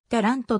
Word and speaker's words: Taranto: ある paran とは標準イタリア後でタラントと発音されるターラント県中部に